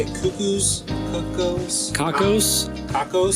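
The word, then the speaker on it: Cockos: Cuckoos? Cuckoos? Kakos? Kakos? Kakos.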